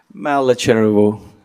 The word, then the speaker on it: Malachervu: How do you say it? Malachervu. You were pretty close.